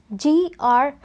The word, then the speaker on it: Grenoble: It is pronounced as Lyon. Then we have the next one, Grenoble.